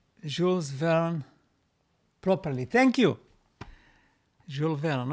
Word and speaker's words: Jules Verne: I am French and you pronounce Jules Verne properly.